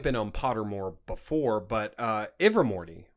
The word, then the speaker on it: Ilvermorny: For example, I mean, now it may have been on Pottermore before, but Ilvermorny, right? Is that how you say it? Yes. Ilvermorny?